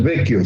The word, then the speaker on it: Vecchio: Giorgio Del Vecchio, se escribe B-E-C-C-H-I-O, o sea, se escribe realmente Vecchio, pero se pronuncia Vecchio en italiano.